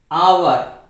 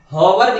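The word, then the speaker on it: hour: कर रहे हैं कि आवर और ऑनेस्ट मैन में एच जो है वो क्या है? साइलेंट है। एच साइलेंट है। प्रोनाउंसिएशन करके देखिए ना आप लोग, आवर, इसको हॉवर भी बोल सकते हैं, लेकिन ये जो हमारा गलत होगा।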